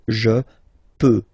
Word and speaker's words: peux: So je peux, okay? Final X not pronounced here, okay? So you get X, but you don't pronounce it. So basically you get the sound peut, je peux, okay?